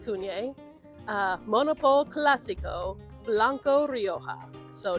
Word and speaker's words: CVNE: Yes, 2018 Cunye, CVNE, but pronounced Cunye.